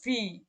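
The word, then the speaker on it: wie: আর এই যে যখন আমরা ইর পরে যখন এ বসবে তখন এর উচ্চারণ হচ্ছে ই অর্থাৎ ভি, ভি মানে হচ্ছে কি, যেমন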